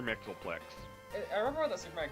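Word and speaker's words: Mxyzptlk: I don't know, like, how do you pronounce his name? Mr. Mixelplix, yeah. Is that really pronounced Mr. Mixelflick? Yes, Mr. Mixelplix.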